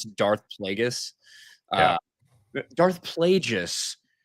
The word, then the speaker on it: Darth Plagueis: and I saw you had people that are, writing stories for Star Wars, not knowing how to pronounce Darth Plagueis. Yeah. Uh, Darth Plagueis.